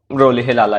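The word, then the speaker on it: Rolihlahla: बचपन में इनका नाम रखा गया था रोलिहिलाला। ये देख लीजिएगा प्रोनाउंसिएशन, वैसे तो ये रोलिहिलाला ही है।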